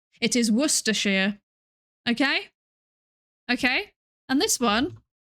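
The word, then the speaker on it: Worcestershire: Actually this this is pronounced worershir. It is not warstershire as I have heard many people say. It is worshshire.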